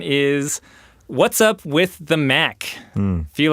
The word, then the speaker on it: MAHC: Graham: MAHC is an acronym and unless they're talking about Mack's earplugs which they don't have the right spelling. It's M-A-H-C, which might not be immediately obvious from how I pronounced it.